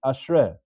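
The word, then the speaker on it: אַשְׁרֵי: So there, because it's preceded with a Tenu'ah Ketanah, it's read as Ashrei.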